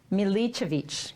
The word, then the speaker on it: Milicevic: So joining me today in the studio is now, see, I wrote down my cheat pronunciation. Milka? Yes. Milicevic.